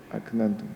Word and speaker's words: أكننتم: Pada kalimat aknantum ini huruf kaf yang bersifat hamas dan disukun berada di tengah-tengah kata. Prakteknya atau pengucapannya ini betul-betul butuh keahlian. aknantum.